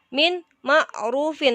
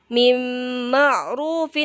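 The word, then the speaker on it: مِّن مَّعْرُوفٍ: Jadi bukan min ma'rufin, tapi mim ma'rufin, ditahan dulu ke huruf mimnya.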